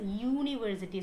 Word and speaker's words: university: University, do we call it university? Do we pronounce it like that? No, we pronounce it as university. So what sound is coming here? U, Y sound is coming, right?